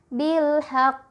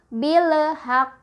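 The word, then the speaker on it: بالحق: nya apa hak ya Jadi ini lemnya dibaca jelas Ya terang bilhaq kok cara baca yang salah misal bilhaq work apa yang salah yang salah adalah dipantulkan lemnya harusnya tidak boleh mantul atau billhack kok juga salah karena alamnya ditahan harusnya eh jangan ditahan lalu contoh selanjutnya perkalian kwal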